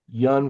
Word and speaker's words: Jan: about the role of yan van I I say Jan vanik but it's probably pronounced Yan but vanik and his